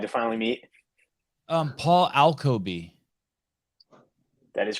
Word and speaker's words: Alkoby: finally meet um Paul alcoby that is correct did I say it right you did you're one